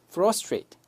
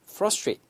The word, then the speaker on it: frustrate: 나머지는 그냥 읽으시면 되는데 F 이렇게 붙어 있죠 그래서 피피 발음을 프 하지 말고 frustrate 오케이 그다음에 이런 스트 이런 것 는 몸이 안 붙은 것들은 약하게 발음하시면 돼요 그래서 frustrate frustrate 이렇게 발음하시면 정확하겠습니다 그다음